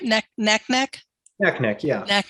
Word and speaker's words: Naknek: with um uh am i saying it right neck neck neck neck neck yeah neck neck and uh